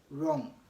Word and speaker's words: wrong: when is W silent W is silent or not pronounced when it comes before r at the beginning of ways example is rap we have another example to be wrong and wrestle we also